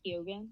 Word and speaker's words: Keoghan: Obviously, the people in this movie, you have Barry, I can't say his last name, Barry Keoghan. Yeah, you got it. Is that how you pronounce it?